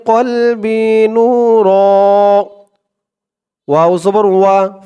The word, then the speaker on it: نور: নু র দুই জবর এখানে দেখুন থামার জন্য চিহ্ন দিয়েছে তো যদি আমরা এখানে থামি তাহলে আমরা উচ্চারণ করব নূর নূর দুই জবরের উপরে ওয়াকফ করলে এক জবরকে বাদ দিয়ে এক জবর দিয়ে এক আলিফ টান দিয়ে পড়তে হয় কলবি নূর আল্লাহুম্মা ফিলবি